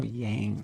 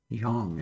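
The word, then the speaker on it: 阳: yinyang there or yinong there's no Yang sound in Chinese so Yong is the way you would actually pronounce that if I ever get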